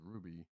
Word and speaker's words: RWBY: justice league and uh rwby which i believe is pronounced ruby uh in a new